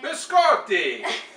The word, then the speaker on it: biscotti: My dad bakes it every year for the holidays, and that is our biscati, or as my dad calls it, how you say it, biscotti. So, you have to say it like that while you're cooking it.